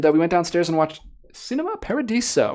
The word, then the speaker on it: Cinema Paradiso: went downstairs and watched Cinema Paradiso or chinema Paradiso if you want that pronunciation there you go wonderful 4K